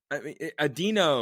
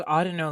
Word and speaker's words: Audino: Like, this is, Audino. I thought it was Audino, like audio. I've always pronounced it Audino with the, but both of you know sound better than I do.